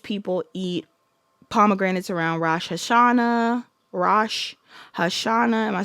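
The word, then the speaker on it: Rosh Hashanah: Rash Hashana.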